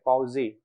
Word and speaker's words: Poiseuille: The l l e is actually silent. It's a Poiseuille. Okay? So, it's something like wa zoo e. Okay? This is a pronunciation guide. Hagen-Poiseuille. Okay? Poiseuille.